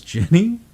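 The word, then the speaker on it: Ginny: oh H hi Guinea why why are you saying Guinea you're freaking me out that's how it's spelled her name is Jenny she's not named after currency no she's okay I'm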